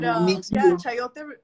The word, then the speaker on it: chayote: But We were introduced to chayote.